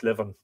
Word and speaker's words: Liban: I wonder, is that pronounced Livan because the B is lenited?